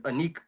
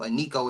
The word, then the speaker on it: Iniko: And so Aniko as well. I hope I'm pronouncing it right, but it's spelled Iniko.